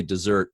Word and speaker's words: Desert: menthe Isaiah yeah yeah so I tend to say dessert based on the traditional pronunciation but let will go